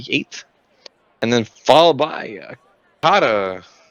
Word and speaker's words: COTA: And then followed by COTA. That's COTA, not COTA. Anyone who pronounces it COTA is wrong.